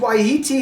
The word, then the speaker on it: Wai-iti: this is settling down a little bit prized ye t hops pronounced ye t that's why i pronounced it